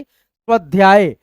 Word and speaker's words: स्वाध्याय: लोग भी पढ़िएगा स्वाध्याय अस्वाध्याय इस प्रकार से स्वाध्याय ठीक है अ का थोड़ा सा ध्वनि आएगा ही आएगा शुरुआत में आधा स है इसीलिए है ना अभ्यार्थना अभ्यार्थना